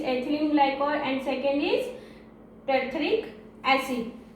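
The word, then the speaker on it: terephthalic acid: First is ethylene glycol and second is टेरिथेलिक एसिड। टी से pronunciation करेंगे, इसमें पी का प्रोनाउंसिएशन हम लोग नहीं करेंगे। ठीक है, इतना क्लियर हुआ।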